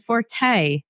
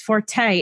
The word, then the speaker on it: forte: The word that means something that someone excels at is supposed to be pronounced fort, meaning that it is one's strength.